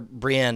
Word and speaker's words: Brienne: really good things here seeing Brien uh or Brienne as they pronounce it on the show uh seeing Brienne uh